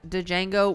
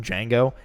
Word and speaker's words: Django: A, everybody calls him Django, and B, there's the racist hillbilly gun toter that Yeah. calls him Django, and then Oh. he shoots him, and he's like, the D is silent, hillbilly, and then fucking kills him.